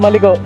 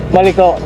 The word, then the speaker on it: Malico: Kaya to tinawag na maliko at ano lang correction lang sa mga pronunciation. May nagsabi kasi sa akin, maliko ang tamang pronunciation. Hindi maliko. Kasi most of uh ah ibang content creators ang tawag dito is maliko. Parang maliko ganun eh.